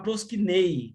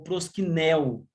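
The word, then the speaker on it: προσκυνέω: Por último, a expressão no caso, a palavra proskinei ou proskinel, depende como se queira se pronunciar.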